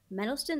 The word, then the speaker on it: Mendelsohn: Mendelsohn, that's how you pronounce his name.